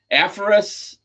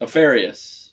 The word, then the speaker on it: Apharius: Aphorus. It's pronounced Aparius, but yeah. No, PH is like a Aphorus. But I think Apharius. Apharius. Yeah, there you go. Yeah, that sounds good.